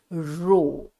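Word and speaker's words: ρ: little to metal it'll back right it is pronounced as rho right so what is the formula yes R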